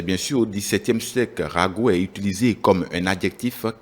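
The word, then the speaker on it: ragot: des synonymes de rumeur Rago Rago s'écrit avec R a g o t on parle bien sûr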